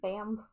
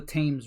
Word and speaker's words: Thames: Thams. The Thames River. No, it's called the Thames River. Thames?